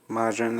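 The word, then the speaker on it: Mazine: For those not initiated, the time Mazin, or Majin as they pronounce it, is a traveling hover vehicle tank robot.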